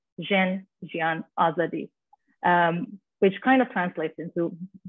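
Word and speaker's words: Jin, Jiyan, Azadî: slogan basically and in parsley in Kurdish it's pronounced zhen Gian Azadi which kind of translates into woman life freedom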